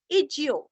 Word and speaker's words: इज्यो: इज्यो रस्व ई और ज आधा यो इज्यो इज्यो।